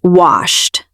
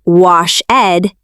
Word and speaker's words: washed: Yes, you don't say wash-ed, you say washed. Washed. It sounds like a quick T at the end.